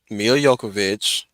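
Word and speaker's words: Milla Jovovich: no longer married yet emilia yokovich that's how you pronounce her name um and and and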